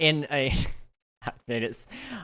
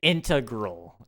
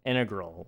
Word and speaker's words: integral: in a made it I butchered how I said that that sounded so bad I don't know if you guys heard it but I I said I meant to say integral integral like it's very important